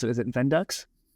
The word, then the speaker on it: Vendux: And that is And how do we pronounce it? Is it Vendux? Vendex.